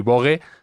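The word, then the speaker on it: Vogue: Aquí bogue se pronuncia bogue directamente. otros en otros países lo se pronuncia más así de forma eh original que el no y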